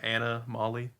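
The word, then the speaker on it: Anna-Molly: of the week is anomale anomaly but spelled like a name anamal by Inc it's on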